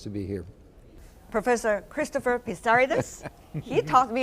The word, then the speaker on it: Pissarides: Professor Christopher Pissarides, he taught me how to pronounce his name, for the year 2010, the latest among you all.